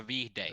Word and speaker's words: Viihde: And to those English or to those viewers who do not understand Finnish, you would pronounce it Eliza Vihday or Eliza something like that.